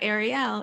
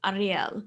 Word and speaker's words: Ariel: elias and she um i tried to pronounce her name correctly because she's um par she's israeli and so it's definitely it's not ariel it's ariel um but i don't have